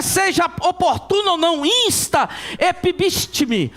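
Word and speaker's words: ἐπίστηθι: oportuno ou não, insta, epibistime, é mais ou menos assim a pronúncia no original, e significa ficar em cima, tomar uma posição firme, uma posição dura.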